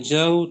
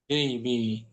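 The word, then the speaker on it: جيبِ: Bacanya bukan jauh tapi jaibi.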